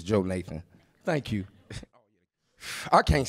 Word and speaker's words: Jonathan: man's uh older brother correct pronunciation is Joe Nathan thank you I can't